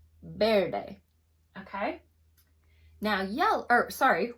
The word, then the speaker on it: verde: thing with green so it's Verde but it's pronounced bairdai Verde okay now yell oh sorry white is Blanco